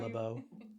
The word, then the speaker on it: LaBeouf: pronounced Yeah. LeBeau.